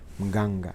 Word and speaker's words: Mganga: Now, I want to talk to you about Tshepiso Oarabile Mganga as a, I have to pronounce it correctly, Mganga, as a brand, and try to look into